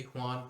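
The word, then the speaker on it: Juan: सैन जुआन भी आप इसको पढ़ सकते हैं, लेकिन जो मैक्सिकन वगैरह या स्पेनिश में पढ़ते हैं वो जे को एक्चुअली हुआन पढ़ते हैं।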